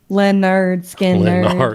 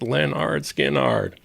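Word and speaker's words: Lynyrd Skynyrd: Leonard Skinner. Skinnard. It's pronounced Leonard Skinnard.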